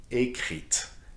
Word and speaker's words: écrite: Therefore, you need to add an E to écrit, which becomes, in the pronunciation, écrite.